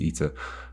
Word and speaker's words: eta: Although I'm not exactly sure what you would say in Greek, but I think the English pronunciation is Eater, which obviously matches with other things like theta and beta, although some people say beta, which is always weird.